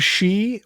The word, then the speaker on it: Shi: At best, I was aware of she, which is spelled shi.